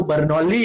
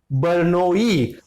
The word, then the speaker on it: Bernoulli: French जो होते हैं, उनके नाम का प्रोनाउंसिएशन इंग्लिश के नामों जैसा नहीं होता. सो his name is Daniel बर्नोई. दो एल है, हम उनको यूजुअली साइलेंट रखते हैं.